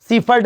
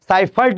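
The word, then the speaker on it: Seifert: जी हाँ, सीफर्ट लग गया है यहाँ पे, साइफर्ट है, उसका प्रोनाउंसिएशन साइफर्ट ही होता है।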